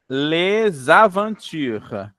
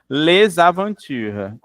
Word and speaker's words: les aventures: Les aventures. Aventure. Muito bem. Les aventures. As aventuras. Vocês notaram que eu juntei aí os sons?